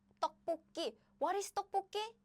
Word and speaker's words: 떡볶이: So what happens is this sound goes here. So the pronunciation is 떡볶이.